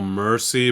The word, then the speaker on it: MXRCI: So, Mercy, but with an X cuz rappers be spelling cuz rappers be spelling.